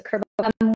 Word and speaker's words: Kerbavez: Kerbavez, I said it wrong the first time. So Kerbavez.